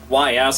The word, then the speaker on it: Ys: The Ys games, YS, a lot of people will go and pronounce it a different way, but it's Ys.